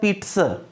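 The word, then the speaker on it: pizza: देखो, एक बात ध्यान रखना, जिसको आप पिज्जा बोलते हो ना, पिज्जा, एक्चुअल उसका प्रोनाउंसिएशन होता है पिट्स।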